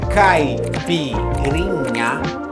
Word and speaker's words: caipirinha: Caipirinha, pronounced caipirinha, is Brazilian national cocktail.